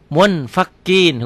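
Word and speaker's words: منفكين: Munfakin, hukumnya ikhfa. Kenapa? Karena nun mati ketemu fa. Cara bacanya munfakin.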